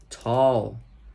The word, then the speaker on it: tall: Tall. Tall. Se escreve com A, mas a pronúncia é esse som de O, tá?